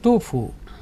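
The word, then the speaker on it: 杜甫: শতাব্দীর একজন কবি ছিলেন, তখন উচ্চারণ হতো তুফু, পোয়েটে তুফু, এখন ওটাকে দোফু বলা হয়।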